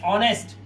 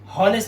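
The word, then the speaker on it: honest: ऑनेस्ट। होनेस्ट नहीं पढ़ते। ऑनेस्ट पढ़ते हैं। तो ओ से पहले आया एच है।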